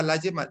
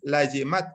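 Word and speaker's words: لزمت: Makanya ditambah lazimat. Jadi bukan lazim tadi situ ya. Bacanya bukan lazim tahu ya. Tapi ala kulli man lazimat hus salatu.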